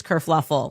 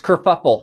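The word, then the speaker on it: kerfuffle: Kurfluffle. Oh, no. That's it's kurfuffle.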